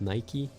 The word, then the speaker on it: Nike: Like it took me years to figure out that it's not Nike but Nike.